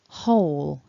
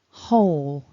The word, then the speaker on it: whole: Whole, whole, whole. So top tip of the day, silent W. Don't pronounce the W.